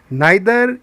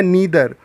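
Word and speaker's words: neither: नाइदर या नीदर दोनों उच्चारण ठीक हैं।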